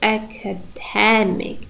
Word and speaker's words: academic: Academic. Dam is primary. It is before stress.